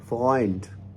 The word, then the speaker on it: Freund: और इसकी एक और एग्जांपल हम लेते हैं, जैसे zum Beispiel Freund, Freund.